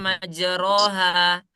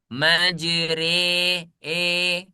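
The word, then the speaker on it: مجراها: Nah, tulisannya majroha. Tapi ketika rya dibaca dia menjadi imalah menjadi e. Majri e.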